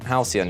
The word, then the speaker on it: Halcyon: How do you pronounce this fucking word? Halcyon? Halcyon, yeah, Halcyon, that's what it is.